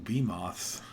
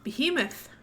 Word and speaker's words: behemoth: Ooh, bee moths. Behemoth. I believe they're called bee moths. They're basically giant moths. It's pronounced behemoth.